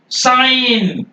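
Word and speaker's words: sign: बढ़ता वो क्या है जी साइलेंट बिफोर एन कभी भी यान के पहले अगर जी आ जाएगा उसको आप साइलेंट रखेंगे एग्जांपल देखिए फॉरेन ये देखिए जी के पह एन के पहले है साइन जी नहीं बोलेंगे डिजाइन जी नहीं बोलेंगे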